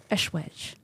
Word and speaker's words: Eschwege: How do you pronounce that? Eschwege.